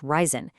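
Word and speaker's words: reisen: It's pronounced ryzen, and it simply means to travel.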